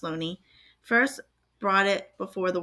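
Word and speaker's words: Looney: since 1920 when an English scholar Thomas Sweeney pronounced Loney first brought it before the world none of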